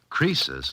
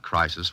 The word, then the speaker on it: Croesus: Croesus, not Crisis, was a rich king.